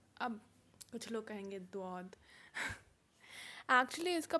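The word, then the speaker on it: ضاد: या जेड है, वो एक्चुअली उसको कहते हैं ज़ौद। अब कुछ लोग कहेंगे द्वाद। एक्चुअली इसका प्रोनाउंसिएशन ना दा है ना ज़ा, क्योंकि अरबी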